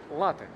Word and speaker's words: латте: Это кофе латте. Латте. Латте. Там с ударением на первом слове.